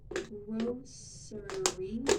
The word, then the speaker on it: grocery: You can say grocery with an S sound in the middle. Grocery, grocery. But for me, I say grocery with a sh sound in the middle.